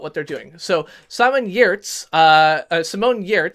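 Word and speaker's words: Giertz: So Simone Yertz, whose name I was mispronouncing and didn't realize the G was silent until just recently, is from Sweden and is a Patreon creator on YouTube.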